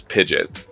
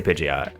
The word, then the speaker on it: Pidgeot: on my Discord about Pidgeot versus pidet I I say Pidgeot there's an O there's definitely an o in there but